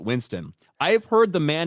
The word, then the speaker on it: Winstone: And Rob says, Ryan, the E is silent. Winston. I have heard the man himself pronounce it. He says, "Hey, it's Ray Winstone here."